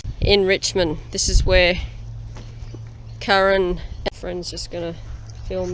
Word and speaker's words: Karen: Karen, her name is spelled K-A-R-E-N, but you pronounce K-A-A-R-E-N.